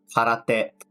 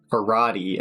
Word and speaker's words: karate: Then we have karate. So I don't want you to ever pronounce it karate again because it's a Japanese word pronounced karate.